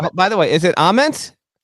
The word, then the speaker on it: Ament: Well, listen, Pearl Jam, it's Jeff Aement, right? So, if Jeff Ament, who has been on this show, by the way, if he pronounces it A, then I'm sorry, Nate, your last name is Ament. No matter how you want to say thank the basis for Pearl Jam calls it Amen. It's Amen.